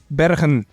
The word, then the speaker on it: Bergen: You're from Bergen in the Netherlands, which is... Yes. Is that how you pronounce it? Bergen, yes.